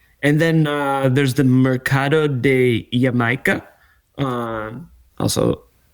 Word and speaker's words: Jamaica: And then and then, uh, there's the marcado de yamika. Um, also pronounced Jamaica. Um, it is not pronounced Jamaica if you're in Mexico.